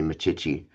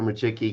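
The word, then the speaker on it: Micciche: Um I need to get you one of the mugs my wife designed that has an MI, a chick, and a key on it. So, uh, you'll stop calling me Machi.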